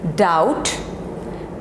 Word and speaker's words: doubt: This is doubt, debt, debt, and this is subtle, subtle, subtle, not subtle, subtle.